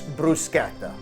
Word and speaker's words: bruschetta: sure you people know how to say it correctly. It's bruschetta, not bruschetta. Okay, this is not a casting for the Olive Garden commercials. It's bruschetta.